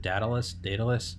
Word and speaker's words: Daedalus: I don't know how to pronounce it. Daedalus.